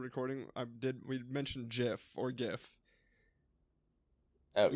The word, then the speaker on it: GIF: of the GF format it is pronounced GIF with a soft G sound I'm never gonna remember